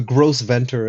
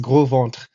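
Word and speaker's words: Gros Ventre: this is just funny because or the the gross ventor as probably the Americans would say it but it's pronounced Grant which literally means the fat belly people um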